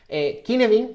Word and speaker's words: Cynefin: Cynefin, que se escribe Cynefin, pero es una palabra galesa, porque su autor, David Snowden, es galés, y esa es la pronunciación.